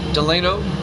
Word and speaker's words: Delino: Delino or Delino. D-E-L-I-N-O. I don't know how you pronounce that.